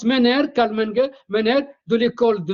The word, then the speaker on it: Menger: Ça s'écrit Menger avec G comme golf, mais ça se prononce Menger, Karl Menger de l'école de Vienne, l'école autrichienne.